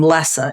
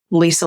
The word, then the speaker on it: Lesa: Lisa and people who pronounce my name Lessa instead of Lisa. It's Lesa, Lisa like normal, right? Very easy to, get that right.